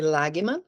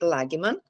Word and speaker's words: Lagemann: H, eu sou, na verdade, eh, meu nome e pronunciado Lagma, por ser um nome alemão, né? Então, hoje esse não tem um U no meio, mas não é um, enfim, é Lagman.